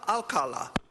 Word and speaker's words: Alcala: It rhymes with ooh la la. Remember ooh la la? Alcala. It's all in the inflection.